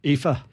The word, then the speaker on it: Aoife: How do you pronounce that Irish name? Is it Aoife Scott? Aoife.